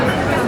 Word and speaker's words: Sóller: Người dân địa phương gọi thị trấn là "Sóller" với chữ "ll" phát âm giống như chữ "y".